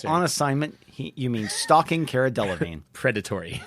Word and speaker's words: Delevingne: I learned maybe it was yesterday that her name is Cara Delevingne and not Cara Delevingne.